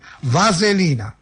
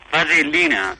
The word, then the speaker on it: vaselina: Vaselina. Vasellina? No, con L sola, vaselina.